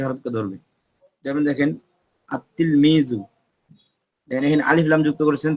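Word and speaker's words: التلميذ: উচ্চারণ করা যাচ্ছে না লাম উচ্চারণ না করে সরাসরি লামের পরে যে হরফ আছে তাটাকে ধরতেছে আতলমিজু এখানে বলতে পারবে না যে আল তিলমিজু এরকম বলা যাবে না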